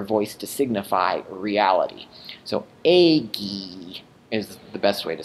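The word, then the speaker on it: ēgī: Here's another lengthened stem vowel. Ago, agare, I do, becomes eggy, I did.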